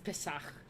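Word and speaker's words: Pesach: Is that how you say it? Is it Pak or Pace? I don't remember how to say it. I'm pretty sure it's Pak. Yeah, it's Pesak, dude.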